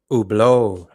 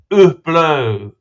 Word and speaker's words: Hublot: So it's Hublot, the H for some reason, because you got to remember these Swiss, they're French speaking. So a lot of the French pronunciations, Hublot.